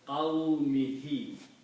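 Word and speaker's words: قَوْمِهِ: And for the pronunciation, we also pronounce this ha with a kasra. So it becomes qawmihi.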